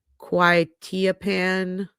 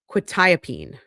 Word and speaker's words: quetiapine: also found, oh God, I forgot how to pronounce this. My stomach is rumbling. I guess I'm hungry. Quetiapine pine. Oh God, now I have to look it up. How do you pronounce? There it is. Quetiapine.